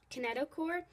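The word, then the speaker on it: kinetochore: find a k a that's pronounced a kinet kineticore at the Centrum of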